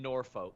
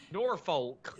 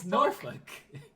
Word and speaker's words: Norfolk: norfolk i used to sean's not even saying it right nor folk no it's norfolk norfolk yeah that's legitimately how it's said i was born here